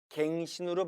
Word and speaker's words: 갱신: 이번 으 생신이 맞나요 정답은 1번과 2번 모두 다 가능하다는 것이죠 경 짜르 활용 됐을 땐 고치다 라는 동사가 됩니다 이번 갱신으로 발음 할 땐 다시